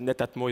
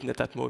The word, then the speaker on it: Netatmo: know that some of you are saying that netatmo is a strange name It's true and the Japanese Basically to pronounce it split it into two parts Netta